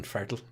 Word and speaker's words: Farrell: keep going excuse me you're irish you have to say it colin fertill uh thank you very much that's that's how it's pronounced around these parts for get out colton